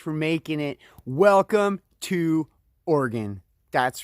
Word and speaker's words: Oregon: oh, by the way, that's how you say it. Just Oregon. Like, you know, you have organs, you play an organ, you mine ore, you shoot a gun, or you can think of it this way.